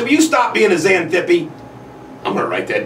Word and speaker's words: Xanthippe: It's not spelled the way it sounds, by the way. TX, pronounced like a Z.